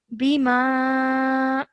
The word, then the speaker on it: بما: This ba, it has a simple kasra, so do not elongate for more than 1 second. Bima.